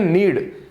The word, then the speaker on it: knead: इसको यहां ले लेते हैं, देखो दिख रहा है आपको, इसको बोलते हैं नीड। के साइलेंट रहता है, अब पता नहीं के साइलेंट क्यों रखा।